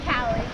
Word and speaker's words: Callie: Callie. Callie. I almost said Kaylee, and I was like, that's not right. It's close, but I know it's not right.